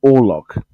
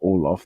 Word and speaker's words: Orlok: And he said Orloff. No, Count Orlok. Not Orloff.